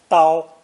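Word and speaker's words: 刀: now here is the complete version pronounced first tone tao the most important part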